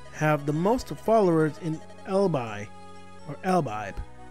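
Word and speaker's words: Elibe: The teachings of Emblem have the most followers in Elbi, or Elbibe. Yeah, Elbibe, I think that's the right way to say it. Okay, I think that's the right pronunciation, so hopefully I'll remember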